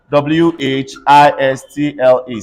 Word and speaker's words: whistle: s-t-l-e in a word c-a-s-t-l-e everybody say castle w h i s t l e say whistle w r e s t l